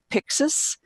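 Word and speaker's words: Pyxus: about 400 million and the way that you pronounce it is Pyxis and the stock for a hundred and forty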